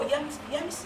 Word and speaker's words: Yemisi: And he goes, and then he calls me Yesmi. And I said, no, it's not Yesmi because the S is before, after the. And then he goes, oh, Yemisi.